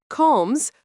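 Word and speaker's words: comes: Coms pronounced coms means you eat.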